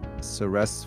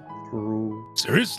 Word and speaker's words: Ceres: It is Ceres, right? Not Ceres.